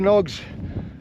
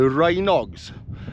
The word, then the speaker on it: Rhinog: right well I'm here the pronunciation of the Rog I've heard a lot of people say the rhog I've always thought it's the Rog so many people calling them the rhs and on my